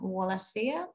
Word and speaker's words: Wallacea: worked with International conservation and education organization operation wallacea I may have pronounced it wrong sorry um that was right